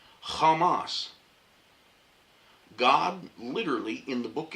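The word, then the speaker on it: חמס: that's in captions but it is pronounced in Hebrew Kamas.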